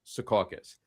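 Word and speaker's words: Secaucus: I say this to everybody that fights with me that it's pronounced Saucus.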